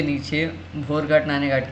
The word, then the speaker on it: नाने घाट: ठीक है, नेक्स्ट आता है दोस्तों नाने घाट। ठीक है, इसको नाना घाट भी कह सकते हैं प्रोनाउंसिएशन में।